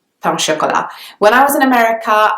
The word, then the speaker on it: pain au chocolat: The pronunciation is quite close to the French pronunciation actually. It's not that different, it's just pain au chocolat.